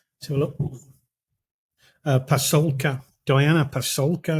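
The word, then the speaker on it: Pasulka: So it's a book by Diana Pascula, I think you pronounce her name. So look, Pasolka, Diana Pasolka.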